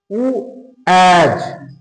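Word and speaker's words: was: যেমন দেখো লেখা আছে ডাব্লিউ এ এস, ডাব্লিউ এ এস, উ অ্যাজ, উ অ্যাজ। তাহলে উচ্চারণটা হচ্ছে উ অ্যাজ, মানে হচ্ছে ছিল অর্থে ব্যবহার করা হয় অতীতে।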